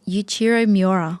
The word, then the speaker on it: Yuichiro Miura: Yuichiro Miura.